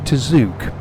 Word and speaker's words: Tzuke: there was once a singer called Judy tzuk and I think that's how you pronounce her surname t z u k e anyway um she had